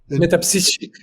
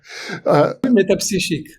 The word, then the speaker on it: Métapsychique: to look into the, I don't pronounce it the way you do, the Institut Métapsychique. Metapsychique. That's you said perfect. Yeah. Metapsychique.